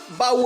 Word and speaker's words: baú: Baú, a mesma coisa. Se eu separar, fica ba, u. Hiato de u, sozinho na sílaba.